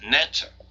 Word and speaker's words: Neter: a name which was something like an e ter usually pronounced Netta when we look into